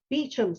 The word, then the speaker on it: Beauchamp: Next, we are looking for Claire Callanan, who is a partnership in Beecham Solicitors, but it's spelled Beauchamps. Looks like Beauchamp, whatever, but it's Beecham's how they pronounce it.